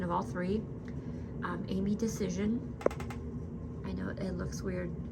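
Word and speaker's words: Dacyczyn: Um Amy decision. I know it looks weird. Um but that is how it's pronounced.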